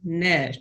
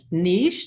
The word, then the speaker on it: niche: is it so there's this word Nish nich Niche how do you however you pronounce it I did under I did find out that either pronunciation is correct it's just whichever you prefer potato potato if you'd